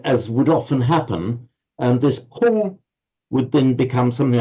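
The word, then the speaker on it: 空: This is the Chinese character for, and it's pronounced Kong in modern Mandarin. Kong, meaning empty.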